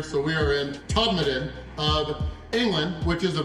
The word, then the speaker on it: Todmorden: We are here for the first time in Todmorden. Yes, which is spelled Todmorden, but they do not like that pronunciation from Americans here. So we are in Todmorden of England, which is a village in between Leeds and Manchester.